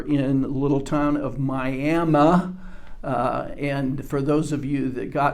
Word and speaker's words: Miami: that there's a tendency, because the town's name is spelled like the Florida town of Miami, but the pronunciation, the local pronunciation, is Miami.